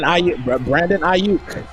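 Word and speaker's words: Aiyuk: How do you pronounce his name, Mr. Snipes? Brandon Ayuk.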